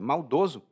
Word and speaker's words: maldoso: E perceba a diferença na pronúncia. Hein? Maldoso e maldosa, no masculino e no feminino.